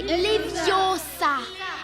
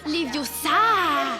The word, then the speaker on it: Leviosa: Ce qui fait que non seulement elle connaît l'histoire de Poudlard et qu'elle sait comment bien prononcer le sort de lévitation, c'est Leviosa et non Leviosa.